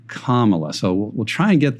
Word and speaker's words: Kamala: mistakes i'm understanding so let's just say kamala harris not kamala not kamala but kamala so we'll try and